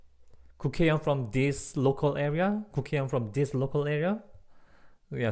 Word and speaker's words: 국회: Like 국회의원 from this local area.